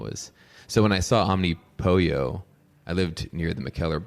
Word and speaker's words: Omnipollo: And they said it's Omnipollo, like the all-encompassing chicken, like that concept.